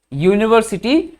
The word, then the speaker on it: university: the word university so how does it pronounce how do you start why you you university u is y a vowel no so in that case we cannot use n we have to use a okay our university not